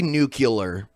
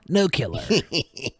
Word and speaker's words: nuclear: ] with that pleas say it correctly say nuclear n Nu I can't that's not the correct way to say it but a lot of people say it that way nuclear that's uh that's how George Bush would say it nulear Nu killer good old George three